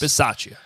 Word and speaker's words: Bisaccia: I literally was just, how do you pronounce the coach's last name? Rich. We should know this. Bisaccia. Rich yes. Bisaccia.